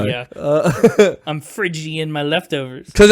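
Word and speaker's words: Phrygian: Yeah, I like that they chose what is apparently called the Friian mode spelled with a ph R Y G I A N. Frigian.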